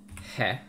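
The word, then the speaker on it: へ: there and we're gonna move on to hey or this is also just pronounced eh because it's very breathy um in japanese there's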